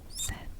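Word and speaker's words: sept: it down set oops so it's kind of like set like movie Set eight eight is wa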